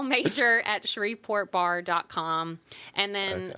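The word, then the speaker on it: Magyar: should spell it because my name is really weird it's major but it looks like magar so l m a g y a r yeah at shreport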